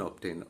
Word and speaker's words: obtain: Now, there are 2 syllables in obtain. Obtain. And as the rule mentions, you will find that the first word that I have used is ain, A-I-N. And from the rule, it becomes clear that the suffix will be stressed. So, tain is stressed.